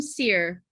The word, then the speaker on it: Cyr: Is that how you pronounce his name? Cyr? Yes, Maxime Cyr. Cyr, yeah.